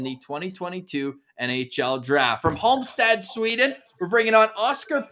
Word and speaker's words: Halmstad: Last pronunciation, Halmstad?